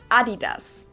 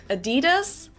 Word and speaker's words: adidas: what they were referring to because they usually pronounce it adidas and in germany we say adidas adidas adidas there's definitely a difference the second largest sportswear